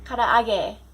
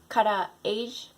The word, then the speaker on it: karaage: Number 7, karaage, right? Not karaage.